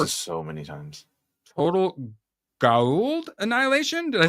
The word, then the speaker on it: Goa'uld: Goa'uld. Goa'uld. Whatever. It's like some actors go the Goa'uld and they say it like the right way, and then some by the end they're just like the Goa'uld.